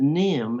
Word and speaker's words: Nahum: was from the bible n-a-h-u-m but instead of pronouncing it nahum they pronounced that nim as if it were nim oh and this young